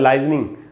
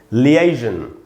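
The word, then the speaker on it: liaison: लाइजनिंग नहीं होगा दोस्तों, स्पेलिंग है LIASION और इसको पढ़ना चाहिए लियाइजन, लियाइजन पढ़ेंगे, आप देख रहे हैं ए को मैंने अंडरलाइन किया, ए पर ही स्ट्रेस है, लियाइजन, तो इस प्रकार से इसका उच्चारण होगा, लाइजनिंग नहीं होगा, लियाइजनिंग बोल सकते हैं आप।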